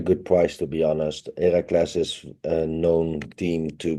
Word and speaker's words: Heracles: Feyenoord seemed to be quite a good price for Accas and doubles, but their way it's how do you say Heracles? Heracles? Yeah, Heracles.